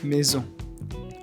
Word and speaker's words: maison: We produce this sound when the S is in the middle of a word. For example, maison, rose.